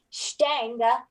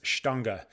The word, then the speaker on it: Stange: School System um student Stanger is how I would pronounce it Jeremy how do we pronounce it so I heard this from Master cicerone Rich Higgins who's fluent in German and has traveled to Germany many many many many many times and I've heard him pronounce this shtanga um Jeremy's hand and